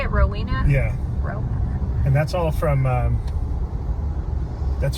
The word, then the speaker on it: Rowena: Rowena. And that's all from that's from the book Ivanhoe, because this Silver Lake used to be named Ivanhoe after the book Ivanhoe. Oh. And Rowena is a character in the book Ivanhoe.